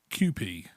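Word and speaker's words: Kewpie: had japanese style mayonnaise have you no it's pronounced qp says on the side see me tell you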